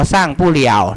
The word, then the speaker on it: 上不了: เติบ โต พื้น ดิน สร้าง ปู้ เหยว นะ อัน นี้ อ่า ว่า สร้าง ปู้ เหี่ยว นะ ครับ 3 คำ